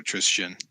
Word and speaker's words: Tristan: It's like Christian, but like Tris at the start, so Tristan.